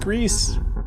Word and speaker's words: Gris: by the uh g r i but it's pronounced Greece it's Spanish and French for gray but it's